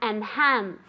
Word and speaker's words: enhance: To enhance. To enhance. Remember that that H sound is very soft, okay? Like when you're warming up your hands, to enhance, okay?